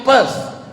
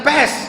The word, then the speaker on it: Perth: I am going to Perth. bukan pes. Kalau pes penyakit, pes.